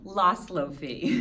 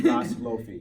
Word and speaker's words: Laszloffy: Laszloffy. Laszloffy.